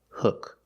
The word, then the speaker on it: hook: Pronunciation, use the short sound like book and look, hook.